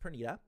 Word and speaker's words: Pernida: anymore after seeing perita now that I know it's it's pronounced perita uh rumors say 14